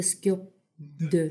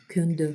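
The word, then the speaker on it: སྐྱོབ་འདོད: На самом деле это скьоп ндё (SKYOB 'DOD), но традиционно это слово произносится кьондё (SKYOB 'DOD).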